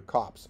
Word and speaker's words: copse: And again, here I want to point out, I'm saying copse, COPSE, as in a stand of trees, rather than corpse in the South Boston pronunciation, which would be identical with cops.